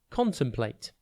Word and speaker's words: contemplate: TV today's word is contemplate it's pronounced con plate and it is spelled c o n t e m p l a t e think con then T and then plate contemplate means to think